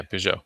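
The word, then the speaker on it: Peugeot: Yeah, Pujo.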